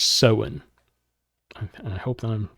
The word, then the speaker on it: Samhain: That is the Druid or the Celtic tradition of, I think it's Samhain. It's spelled very differently than how you pronounce it, Samhain.